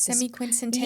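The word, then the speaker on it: semiquincentennial: It's Semi-quincentennial. Yeah, there you go. She pronounced it for us.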